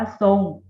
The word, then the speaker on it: ทรง: เสียง เป็น ตัว สอบ โซ่ จะ อ่าน ว่า ทรง ใช่ ไหม คะ ทราบ ทราม ทราย แทรก ทรุด